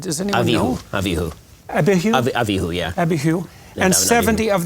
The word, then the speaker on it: Abihu: How do you pronounce that? Does anyone know? Abihu. Abihu? Abihu, yeah.